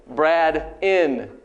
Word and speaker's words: Braden: And then generally on the next line, you write it phonetically how it sounds. So usually I write B-R-A-D space I-N-N. He's a hotel, right? Brad in.